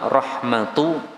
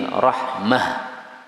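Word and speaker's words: رحمة: itu maksudnya kalau berhenti maka cara membacanya bukan Rahmat tapi Rahmah berbeda dengan qiraah hafz Kalau hafz berhenti Rahmat karena tanya ta maftuhah tapi kalau riwayat Ibnu Katsir Q IB kir maka berhentinya Rahmah misalnya yaahi Rahmah rahmatullahiaikum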